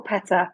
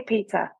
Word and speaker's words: PETA: So how do you say this, Peter or Peta? Because I say Peter, P-E-T-A.